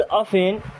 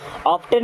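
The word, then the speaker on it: often: He would ऑफन, ऑफन means क्या होता है अक्सर, यहाँ पे टी साइलेंट होता है, ऑफ्टन नहीं पढ़ना, क्या होता है ऑफन।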